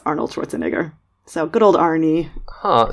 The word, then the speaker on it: Schwarzenegger: Correctly it would be pronounced Schwarzenegger.